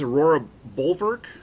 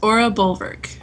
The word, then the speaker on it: Aura Bulwark: So, Mandy, your name in game, it's Aurora Bulwark? Is that how you pronounce it? Pretty close. Aura Bulwark. Aura Bulwark, okay.